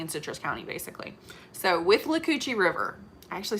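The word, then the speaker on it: Withlacoochee: between marion county and citrus county basically so with lucocci river i actually said it right that time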